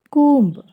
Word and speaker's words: comb: Fourth, comb, B is silent letter.